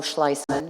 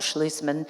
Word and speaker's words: Schleisman: Yes, just in case, it's actually Schleisman, not Schlusman.